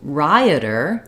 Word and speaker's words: rioter: Okay, then when we move to rioter, this one is different in that it has 3 syllables. Writer, rider, 2 syllables. Rioter, 3 syllables, and that first syllable is stressed.